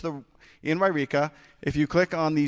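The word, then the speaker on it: Yreka: That is pronounced So it's in Wairika.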